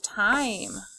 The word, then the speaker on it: time: I told you that this was a silent E word, so we know there's going to be an E at the end. The E is going to make the I say its name.